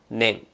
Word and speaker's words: 年: 次は年を覚えましょう。音読みは年、音読みは年。